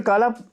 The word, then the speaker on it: काला: शुरू में मेरे को कोई ब्रजेंद्र काला, जिसको बेचारे को कतई नहीं पता ना, तो प्रोनाउंस नहीं कर पाता है। वो काला की जगह कालरा कर देगा, वो काला की जगह काले कर देगा।